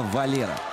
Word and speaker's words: Valero: ну вот кстати он не валеру а именно валера ударение на последний слог в испанском языке не ставится если нет специального знака ударения ну фамилиях такого нет этому валира править и